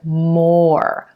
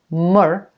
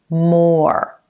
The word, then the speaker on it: more: first at the word more more you want to make sure you get a full pronunciation of the O vowel sound before you go into the ER at the end of